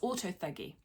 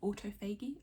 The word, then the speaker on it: autophagy: triggers things such as autofeggy I'm pretty sure I pronounced that wrong autophagy or autophagy um where basically old cells